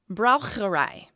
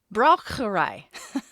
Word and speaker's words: Braucherei: It is also known by another term, which I didn't necessarily pronounce incorrectly last time, but I sure American the heck out of it. Okay. Braucherei. It should be correct. Braucherei.